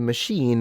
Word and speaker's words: machine: But machine is probably one of the few Is it the only one where you spell it as an I but pronounce it as a long E?